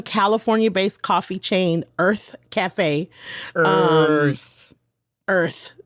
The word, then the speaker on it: Urth: Earth. Sorry, and it's spelled URTH.